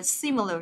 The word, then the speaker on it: similar: Nhớ từ này đọc là similar trong âm đầu tiên các bạn nhá.